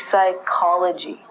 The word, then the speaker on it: psychology: the mind and actually we say this like okay so this is psychology with the silent P the next one is